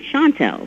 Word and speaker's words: Chantel: said well you know shantu in French is singer and shant is to sing so we said what about the Shantel but we pronounced it Shantel right and so that